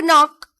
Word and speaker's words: knock: Knock or knock. It is knock. So K is silent here.